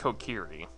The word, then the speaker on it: Kokiri: I don't know, like, emphasis-wise, if it's Kokiri or Kokiri. It's Kokiri. Kokiri flows better.